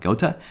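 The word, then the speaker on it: Goethe: game design and so to do that we got gota go to us three questions not go not goth I remember I figured out how to pronounce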